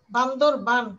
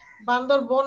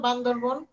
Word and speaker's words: বান্দরবান: পার্বত্য চট্টগ্রাম হচ্ছে রাঙামাটি, বান্দরবান, বানানটা খেয়াল করো। বান্দরবন না, কিন্তু আমরা এমনি বলি না বান্দরবন, বান্দরবান উচ্চারণ। হ্যাঁ, বান্দরবান, খেয়াল করবা, আকার না দিলে কিন্তু ভুল হবে।